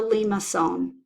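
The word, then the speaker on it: limaçon: here in the center it has a small mark at the bottom which means that when pronounced that C is pronounced like an S perhaps one of the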